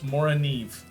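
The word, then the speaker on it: Morakniv: So Moranive, when I was at SHOT Show, the guy from Mora actually said it's Moranive.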